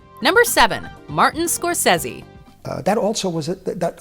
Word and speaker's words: Scorsese: it's unfortunate that many don't understand the correct pronunciation of his last name people often go with Scorsese Scorsese or even scorer Stacy but his inner circle knows the truth just